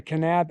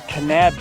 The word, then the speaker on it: Kanab: adventure takes us to canab Utah I think that's how it's pronounced right canab canab canab canab cannab all right so it's canab Utah we're headed to the